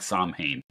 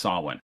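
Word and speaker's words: Samhain: that's called Solin uh it's pronounced slightly differently depending on where you are but it's never spelled like it sounds It's s a m ha a i n it looks like samhan but it's pronounced Sinn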